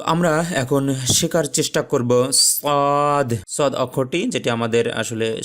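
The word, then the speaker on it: ص: তো সেক্ষেত্রে আমরা উচ্চারণের ক্ষেত্রে যদি বলি তাহলে একটু টেনে বলতে হবে সদ সদ। আমরা যদি একটু ইংলিশে উচ্চারণ করি SOOD শুড হয়ে যায় বা শোড হয়ে যায়।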